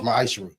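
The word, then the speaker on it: מַעֲשֵׂר: It means 10th in the Hebrew, and it's pronounced ma'ashra.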